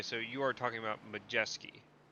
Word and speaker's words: Majeski: Uh I don't think there's a W in there. But it's Majeski. That's how they say it on the broadcast. No, it's Majeski.